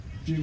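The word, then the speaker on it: cim: Chim, how do you pronounce spell?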